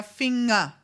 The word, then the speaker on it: Finger: Similar, like if you have an ER at the end of a word, it is very correctly pronounced as A, der Finger.